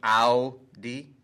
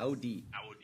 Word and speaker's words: Audi: can we pronounce it correctly Hyundai? For a minute? Exactly. Hyundai. Is it like, yeah, and it's Audi. Yes. Audi.